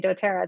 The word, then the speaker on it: dōTERRA: noticed this um do tea so they actually phonetically sound out for you how to say dotera there's lots of different ways and you can